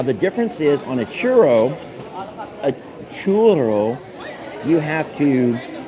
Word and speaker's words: churro: Now, anybody who might be of Spanish descent might know what a churro is. Churro. Churro. A churro. C H U R R O is a churro. I can't roll my Rs.